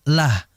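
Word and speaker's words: الله: Adapun kalau huruf sebelum lafzul jalalah kasrah seperti dinillah maka dibaca tipis lah bukan loh lah fi dininillah bukan fi dininillah tidak ya sama seperti bismillah nah itu ya kemudian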